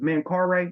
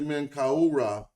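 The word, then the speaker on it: Menkaure: there at that time oh his name is Man car okay I was huh I was pronouncing the S I thought I didn't know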